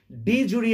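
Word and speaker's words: de jure: ওকে, এটার একটা আলাদা রকমের উচ্চারণ রয়েছে, তোমাদের সুবিধার জন্য আমি ডি জুরি এক্সিকিউটিভ বলে উচ্চারণটা করলাম। ওকে, এটার অ্যাকচুয়াল প্রনাউন্সিয়েশনটা কিন্তু আলাদা। ওকে, ডি জু এক্সিকিউটিভ এরকম অ্যাকচুয়ালি প্রনাউন্সিয়েশনটা।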